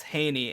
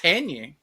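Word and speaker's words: Hejny: Hos Haney and Haney is spelled H E J N Y. Hell yeah. So like Haney.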